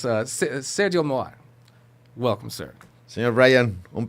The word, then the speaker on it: Sergio Mohar: I want to, and I'm going to go full gringo and just be like, Sergio Mohar is with us today. No, it's Sergio Mohar.